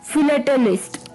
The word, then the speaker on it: philatelist: वो भी एक अटपटा वर्ड है, वो है फिलेटलिस्ट. फिलेटलिस्ट, हाँ जी, जो थोड़ी सी प्रोनाउंसिएशन इसकी अटपटी है.